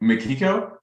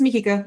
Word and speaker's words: Mikiko: Is it Makiko? Yeah, it's Mikiko. You can also just call me, like Mouse.